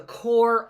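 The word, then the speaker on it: Corps: would be called the core of discovery the P here is silent right the P there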